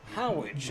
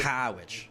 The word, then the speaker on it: Harwich: And Y-D on the road at Howich, as the locals say. Howich.